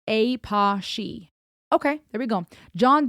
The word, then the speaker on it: Apashe: Pronounced Apashe.